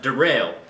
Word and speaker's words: Daryl: Spelled Daryl, but pronounced Darrell.